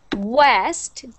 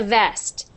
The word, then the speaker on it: west: um rest re s West w s and vest sometimes they all sound like V the vest instead of the rest or back or go to that direction in the vest in the vest instead of in the west so this is really